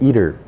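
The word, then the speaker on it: ITER: with Russia and China joint projects so it's pronounced eater so they're you know claiming that they'll have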